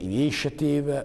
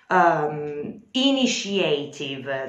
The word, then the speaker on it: initiative: Initiative, that's the correct pronunciation, not initiative.